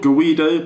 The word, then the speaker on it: GVIDO: want to go and get one it's called Guido it's spelt I'll write it on the screen spelt